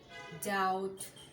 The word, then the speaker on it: doubt: Aplomb, bomb, climb, comb, crumb, debt, doubt, dumb, jam, lamb, limb, plumber, succumb, thumb, thumbs up, bomb, tom. এইসব ওয়ার্ডগুলোতে বি উচ্চারিত হয় না।